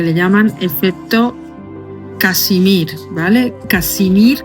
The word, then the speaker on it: Casimir: Casimir, que se escribe como Casimiro, pero sin la O, ¿vale? No Kashmir, que la gente lo puede confundir con otra cosa.